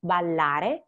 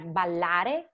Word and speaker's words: ballare: So Italian has a lot of doubles. You must pronounce them. And so when you pronounce them, just extend the sound while holding the breath for a moment. I know that it sounds difficult, but it's not.